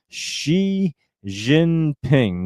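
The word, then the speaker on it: Xi Jinping: And uh profit and the fixer and uh she ginping that's how you say his name. So it is like she like I've been saying.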